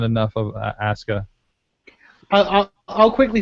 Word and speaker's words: Asuka: Just don't pronounce the U. Asuka.